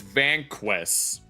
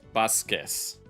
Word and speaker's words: Vasquez: They mispronounced his name as Vanquest. To which someone in chat jokingly said Vanquest, even though it's actually pronounced Vasquez.